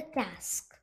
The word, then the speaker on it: casque: The hornbill's helmet is called a casque, rhymes with mask.